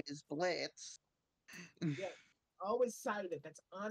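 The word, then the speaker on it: Blitzø: You going into the Blitzo? His name is Blitz. Yeah, always cited. That's on his back quote. His name is Blitz. The O is silent.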